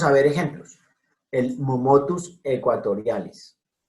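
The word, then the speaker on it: aequatorialis: El momotus equatorialis. Ecuador viene de aequator, que no pronunciaban los latinos ecuator, sino ecuator. Entonces, A con E, siempre E. Momotus equatorialis.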